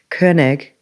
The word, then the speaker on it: Koenig: That's the right Koenig. Yes, that's the German pronunciation.